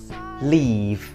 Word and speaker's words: leave: Leave. Dengan bunyi I panjang dan dengan akhiran konsonan V.